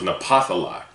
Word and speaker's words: Naphtali: Dealing with the tribe of Naphtali, first and foremost, the word Naphtali means wrestle, all right? In the Paleo-Hebrew, it means Napthali, all right? Its pronunciation in the Paleo-Hebrew is Napthali, all right?